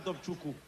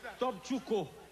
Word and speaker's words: Top Chuko: Non, c'est pas Top Chuku. C'est Top Chuko.